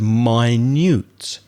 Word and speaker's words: minute: in a minute but if you change the stress on minutes you get the word my newt as an adjective which means very very small so my mobile